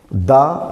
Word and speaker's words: the: Article का प्रयोग करेंगे तो हमें यहाँ पे द एंड नहीं बोलेंगे, दी एंड बोलेंगे।